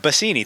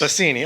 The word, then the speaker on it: Basini: Basini, thanks. Basini.